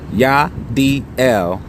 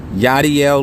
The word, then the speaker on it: Yachdiel: part by Yadier living that's pronounced yeah DL yah DL living healthy lifestyle healthy products